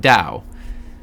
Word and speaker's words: Dao: week which is and i looked it up pronounced dao it's of the elemental